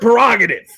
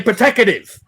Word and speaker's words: prerogative: like a woman but would mispronounce the word prerogative i would say protective so you just